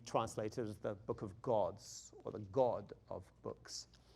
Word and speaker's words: God: He said the G sound is pronounced like ch, right? So he's saying, like the word, he used the example, he said the word God. In English, you pronounce it God.